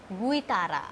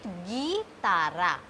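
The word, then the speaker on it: guitarra: Guitara. I can't say it Guitara. I have to say it Gitara. Gitara. Gitara. It is not Guitara. So we will not pronounce U.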